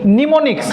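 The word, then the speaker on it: mnemonics: Pneumonics. M n E pneumonics. M O N I CS pneumonics. Pneumonics. Yes. M is silent.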